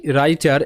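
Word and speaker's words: writer: রাইটার একই pattern রইছে তো ডাব আর আই দেখো এটা রাই হবে ওকে ডব এখানে সাইলেন্ট ডব আর মিলে কিন্তু র সাউন্ড হয় ডব্লিউ সেখানে সাইলেন্ট থাকে এটা আমি সাইলেন্ট লেটারের ক্লাসে শিখিয়েছিলাম তো আর আই রাই হচ্ছে এখানে ডব্লিউ সাইলেন্ট রাই আর টি ই আর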